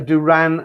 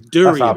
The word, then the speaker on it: durian: thinking of duran durana yeah it's durian and i pronounce it wrong but you know can